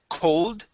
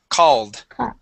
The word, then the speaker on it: called: the word called okay you would said cold cold okay use an a sound C called called good one more